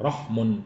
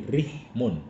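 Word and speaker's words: رِحْم: Tapi kalau dalam kamus Lisanul Arab, itu yang dikenal justru bukan rahmun tapi rihmun, ri dibacanya, silaturrihmi nanti gitu.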